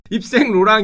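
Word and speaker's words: Yves Saint Laurent: 백화점 가면은 많이 보이는 요 상표 YSL, 이거 이슬이라고 읽으시면 안 됩니다. 입생 로랑 형이 자기의 브랜드가 이게 되는데 여기서 대박이 나요.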